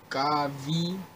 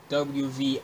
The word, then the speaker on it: Gawvi: me if I'm wrong, like Gavi, it's Gawvi, and it's called Fight For Me featuring Lecrae, and here's the official music video for it.